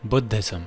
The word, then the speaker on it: Buddhism: It was mentioned that he introduced Buddhism, or in the proper pronunciation, Buddhism, in Hida, built temples, slew demons by the way, and even dragons.